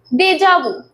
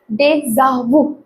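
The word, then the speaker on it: déjà vu: Next word है हमारे पास देजाबू जो कि आप कॉमनली प्रोनाउंस ऐसे ही करते हैं जैसे मैंने किया। बट इट इज़ a French word which is pronounced as डेजाबू। दे जा एच का प्रोनंसिएशन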